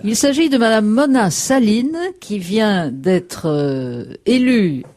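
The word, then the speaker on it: Sahlin: effet madame mon saline on prononce saline donc nouvelle présidente du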